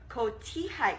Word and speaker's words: cotija: And then we also have a little bit of cotija cheese. The J is silent. Cotija cheese.